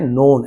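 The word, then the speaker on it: known: नोन कहा जाता है, के साइलेंट है, नोन ऐसे पढ़ा जाएगा।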